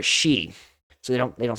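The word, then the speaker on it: 四: So for example, in Japan, the number 4 is often avoided because it's pronounced similarly to the word for death. Both are she.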